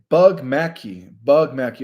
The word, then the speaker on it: Bognacki: Bognacki. Welcome, Steve. He says, Bug Mackey. Okay, so that's how you pronounce it.